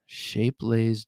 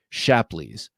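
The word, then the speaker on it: Shapleigh: And a 50s Shapelace Diamond Edge Barlow from the 1950s. I don't recognize the name. Oh, I didn't say it right. Shapleys.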